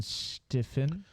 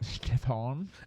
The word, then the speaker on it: Stefan: co-host here as in stiffen and that is not how you pronounce my name Stefan it is oh okay it's the phone thank you as our code it's got a French it's got a French